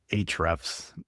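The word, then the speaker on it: Ahrefs: So, I think it usually gets pronounced as hrefs. Like the A is like silent to an extent, but for the geeks out there, if you're making a link on a website, it's an anchor tag.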